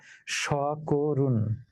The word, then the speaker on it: সকরুণ: সেই কারণে ক এর সঙ্গে যে অ আছে, সেই অটা ও হয়ে গেল। সকরুণ, সকরুণ নয়, করুণ নয়, করুণ। অর্থাৎ কটা কো হয়ে গেল, মধ্য অটা সংবৃত হয়ে ও হয়ে গেল। অতএব শব্দ উচ্চারিত হচ্ছে সকরুণ।